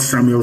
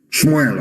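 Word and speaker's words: Shmuel: me tell you what samuel said shmoel of course got a pronunciation as your sword has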